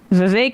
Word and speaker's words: Vivek: Vivek rhymes with fake.